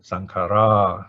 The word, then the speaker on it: saṅkhārā: the last case underline it is a normal short a one count sankara okay normally we pronounce indian style sankara okay plural sankhara okay so my name